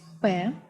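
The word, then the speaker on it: П: The next letter is P, P. It is pronounced like in English word pot, P.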